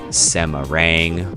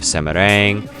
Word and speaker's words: Semarang: It looks like Semarang when it's spelled out, but I do believe it's pronounced Semarang, one of the main cities in Central Java.